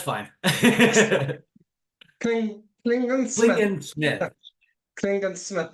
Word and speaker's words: Klingensmith: very special guest lingerman did I pronounce that right uh no but that's fine cling cling Smith Smith Clingan Smith not men okay I need to